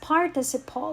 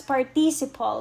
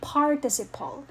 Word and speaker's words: participle: form past and past participle by by the way guys we don't pronounce this as participle we say participle say it with me participle participle okay so they form past